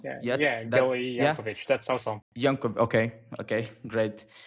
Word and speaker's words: Gili Yankovitch: So today I'm joined with by Gili Yankovitch, right? I don't know if I pronounce yet. Gili Yankovitch.